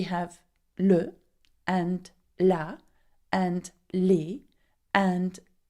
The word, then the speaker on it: les: Okay, and you put an S at the end, though you don't pronounce it as you do in English.